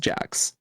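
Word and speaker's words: Jacques: yeah yeah he he he prefers it pronounced Jacks mhhm why didn't glimmer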